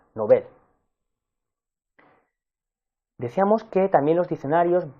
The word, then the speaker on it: novel: recuerda que está extendida una pronunciación nobel que se equivoca ya que su correcta pronunciación es como una palabra aguda nobel deseamos que también los